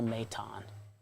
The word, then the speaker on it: Maton: Matone, is that how you say it?